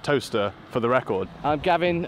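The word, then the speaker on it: Towcester: it is actually pronounced toaster for the record I'm Gavin uh com's officer at South L Council I can officially tell you uh it is pronounced toaster not tester uh we're inside of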